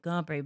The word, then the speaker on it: Capri: douche I'm like cpri cpri but he's right he's still a douche but that is in fact how you say it the place in Italy well I guess he